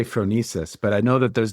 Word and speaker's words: phronesis: So we have, and I'm so excited to hear how you pronounce. I say phronesis, but I know that there's different pronunciations.